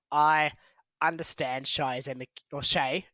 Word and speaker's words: Shai: understand Shai as or Shay as it actually should be pronounced as per Ry sh Bol okay um not shy because apparently he's not